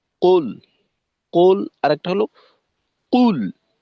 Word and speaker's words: قل: এই প্রথম একেবারে শুরুটা, কুল, এখানে এই উচ্চারণটা হালকা একটু ওকারের মিশ্রণের মতো মনে হলো আর কি। কুল আরেকবার আপনি পড়বেন।